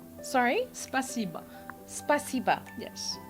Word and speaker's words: Спасибо: Спасибо. Sorry? Спасибо. Spasiba. Yes. Sounds like you just said spices above. No. Спасибо.